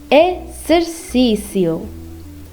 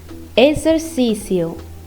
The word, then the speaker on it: exercício: When X is after the first letter of a phrase, mostly E, it's pronounced as Z. For example, exame, exame. exercício, exercício.